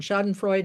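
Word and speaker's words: Schadenfreude: Shoden Freud is the uh probably mispronounced German phrase referring to taking joy in others suffering.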